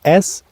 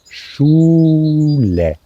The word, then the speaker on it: Schule: So it's spelled S-C-H-U-L-E. Like in English, it starts with SCH, but then comes a U, Schule.